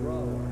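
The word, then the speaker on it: Brougher: James Whitcomb Brawler. Brawler, huh? It rhymes with B-R-O-W-E-R. Why do you have that G-H in there?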